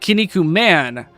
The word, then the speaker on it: Kinnikuman: It's not M-O-N, it's M-A-N. It's just, it would be like Kinnikuman, but I just go with the Japanese pronunciation because that's what the fandom uses and that's what 4Kids used.